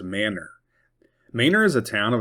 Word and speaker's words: Manor: Manor, Texas. It is not pronounced Manor.